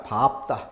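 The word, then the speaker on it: 밟다: 밝다가 아니라 밥다. 비읍.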